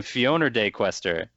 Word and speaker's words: FionordeQuester: play let's player uh whose name rhymes with free phone or play tester please welcome fiona day questor to the party how